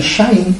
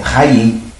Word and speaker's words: Chaim: O brasileiro vai olhar o Chaim com CH, vai apenas pensar em Chaim, e não sabe o que que é isso. Não vai saber quando a pronúncia é Raim.